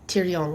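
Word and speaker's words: Thirion: don't get pronounced and then tyon like Tyrion Lannister but it's t h i r i o n but anyway he's um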